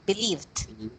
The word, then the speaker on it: believed: sorry you have there believed not believe it again believed believed du sound at the end okay can you say